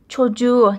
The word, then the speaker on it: çocuğu: Çocuk, çocuk, çocuğu, the same thing, see? The K became soft G because of the vowel after it.